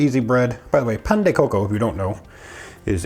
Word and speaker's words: Pan de Coco: okay today we're going to make some Pand Coco that's how you say it Pand Coco I have a one cup of warm milk